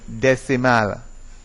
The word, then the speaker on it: decimal: So it is decameter, decimeter, and decimal.